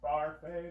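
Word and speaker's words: Barfée: And it's pronounced Barfi. There's an accent, aigu, and you just kind of Barfi.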